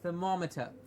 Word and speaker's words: thermometer: you see thermometer yes thermometer the more gets the stress of the word and it's pronounced very